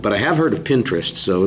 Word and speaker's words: Pinterest: in three or four different ones but uh pine trust is not one of the ones that i know about i i've but i have heard of pinterest so it's just the pronunciation thing that's a